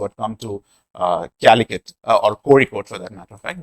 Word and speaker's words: Kozhikode: So it is pronounced Korikot, where probably you have to take a ra sound by twisting your tongue and touching it up on the upper side of the chin.